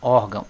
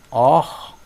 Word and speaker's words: órgão: A palavra órgão, ela só tem um acento, que é aqui, ó, órgão, órgão. Qual é a sílaba tônica? A que está acentuada, or.